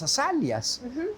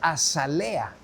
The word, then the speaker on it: azalea: Pero en España no se dice azalia, no sé si sepas eso. No. En España se dice azalea. Azalea. A esa misma flor no se le dice azalia, sino azalea.